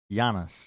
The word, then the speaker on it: Janus: almost scandinavian i think so i think he always wanted his name pronounced janus yeah it is lr15